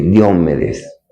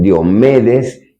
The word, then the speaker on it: Diomedes: aproximan al reino de Diómedes. Hay unos que pronuncian diomedes y otros diómedes. Vamos a decirle en esta mañana diomedes o también podemos decir diómedes.